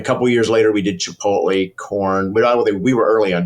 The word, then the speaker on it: Chipotle: we did Chipotle corn we were early on Chipotle nobody could say it including our own staff I'd walk through the office and hear Chipotle chiple I'm like oh my God we can't pronounce our own product uh then when you